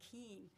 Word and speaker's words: Keane: The best source I could find was this Huffington Post blog by Brian Keane, which is actually pretty good reading. It's spelled K-E-A-N as in Nancy E.